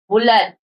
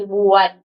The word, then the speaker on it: bulad: Cebu is no letter L in their words like bulad. Instead of bulad, they say buad.